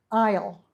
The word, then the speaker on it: aisle: start with number one Isle notice there is a a silent s in the word Isle it's not Isle it's Isle we have an Isle